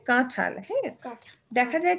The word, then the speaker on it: কাঁঠাল: নাক দিয়ে একটা নেজাল সাউন্ড হবে চাঁদ তারপরে কাঁঠালের কাঁঠাল হ্যাঁ দেখা যায় যে আমরা যখন এভরিডে কথা বলি এই চন্দ্রবিন্দুটা অত উচ্চারণে আসে না কিন্তু যখন শুদ্ধ উচ্চারণ আমরা